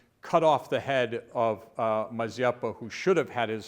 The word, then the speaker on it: Mazeppa: Mazeppa or Mazeppa? How do you say it? You would put the emphasis on the first syllable as Do opposed.